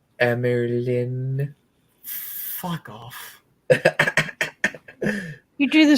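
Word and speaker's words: Amyrlin: up much later, as during her time as Amarillion. Fuck me. Codex, why are you here? It is called Amerlin.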